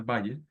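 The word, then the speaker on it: buyer: de de construir un Bayer personas la pronunciación de baller El baller personas es como un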